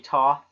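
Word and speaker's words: Thoth: time thth and Hermes apparently it's actually Toth I'm not sure how you're supposed to pronounce it just like how the one that looks like Seth is pronounced set you know SE Seth the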